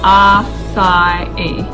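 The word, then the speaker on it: açaí: So first up, we've got Açai, pronounced Açai, from the Amazon jungles.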